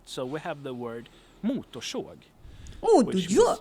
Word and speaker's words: motorsåg: Chainsaw is motorsåg. Motorsåg. And here we have more than 2 Motorsåg.